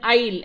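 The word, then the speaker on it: aisle: a small space to walk that's called an is s is silent Ali means G as in Hindi a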